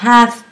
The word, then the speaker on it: half: quar ten five two vous remarquerez également que dans half past on ne prononce pas le l de Half pour indiquer les minutes